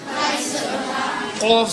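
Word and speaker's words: قاف: Qaf zabarqa. En deze qaf komt hier uit je keel.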